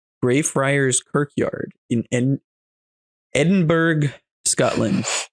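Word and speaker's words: Edinburgh: Friar's kirkyard in Ed Edinburg Scotland or the Scots pronounce it Edinburough thank you oh my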